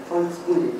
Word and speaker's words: Volksbühne: move to Berlin to have a prestigious avant-garde Volksbühne, this is how you pronounce it.